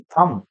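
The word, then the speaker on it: thumb: इसको कहते हैं थंब, थंब नहीं थंब, एम के बाद आने वाला भी साइलेंट होता है।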